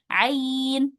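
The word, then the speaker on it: عين: Ini juga bukan dibaca a tapi ain.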